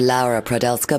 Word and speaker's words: Laura Prodelska: So, we're here in the studio with the gorgeous Laura Prodelska. Hello. Is that how you pronounce it? I pronounce it Laura Prodelska, but either one works.